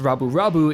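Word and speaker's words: ラブ: But in Japanese, the words love put together that would be pronounced rabu is somewhat of a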